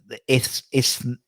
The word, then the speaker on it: Isthmian: Isthmian. That's Isthmian. Just forget there's like a T and H, and they just say Isthmian.